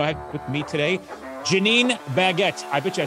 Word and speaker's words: Janeen Baggette: I have with me today, Janeen Baggette. I bet you I said that right. You did say it right. Awesome. I tell people it's either the diamond or the bread. That's how you pronounce it.